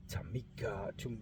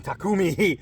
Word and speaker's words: Takumi: make sure it wasn't a fluke man whoa Tamika tumaki to keep saying it wrong takumi takum attack man this thing is so nice